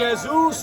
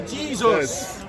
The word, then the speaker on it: Jesus: will know, is that the J is pronounced as a Y in Latin. And so Yehoshua in Hebrew becomes Jesus in Latin. And then in English we pronounce the J with a strong sound, and rather than saying Jesus we say Jesus.